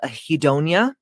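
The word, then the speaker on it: anhedonia: This could be uh there's a word called a hedonia. It's spelled h a n h e d o n i a.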